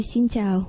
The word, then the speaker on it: Xin chào: En général, on dit Xin Chào. Xin chào. Voilà. Ah, donc j'ai bien prononcé, ouais.